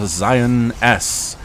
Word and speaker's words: XionS: the blue protos player Zion S I assume that's how I pronounced that but uh it's going to be with the X this the front that's a z like xylophone little English lesson for